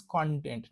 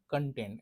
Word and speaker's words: content: So the pronunciation of that content is content, not content. And if you are saying content, you are meaning it as happy or satisfied.